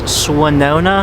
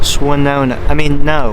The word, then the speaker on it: Swannanoa: A lot of people in the area I've heard pronounce Swannanoa as Swannanoa. That is incorrect. It is pronounced Swannanoa. Swannanoa, which admittedly, I'll admit, Swannanoa, much stupider name.